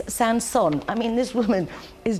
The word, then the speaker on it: Saint-Saëns: And Ros even wrote down for me, you pronounce this Saint-Saëns.